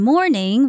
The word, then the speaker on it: mourning: the death of someone and mourning referring to the early part of the day do sound exactly alike each other and they are almost spelled the same except for the additional u in the morning which means feeling sad about someone's death now going back to